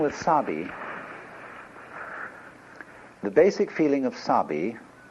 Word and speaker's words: sabi: which uh are basic the first is sabii and that goes along with something that rhymes with it Wabi so often Japanese people